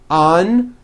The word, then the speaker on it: unusual: Put your hand on your throat and feel for the vibration in the second syllable. U-ju-o. Now put it together. Usual. Usual. Like that. Okay, now try unusual. Un-u-ju-o.